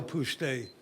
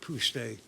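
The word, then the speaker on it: Pustae: My name's Puste. Do you need me to spell it? Yes. PTSA. P as in Paul, U-S-T-A-E, Puste.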